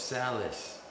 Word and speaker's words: Salas: how I say it I thought it was Salis some people say it that way okay I'm going to keep saying don't say it like a Canadian this is Phil X and Stevie Solace Solace solid solid as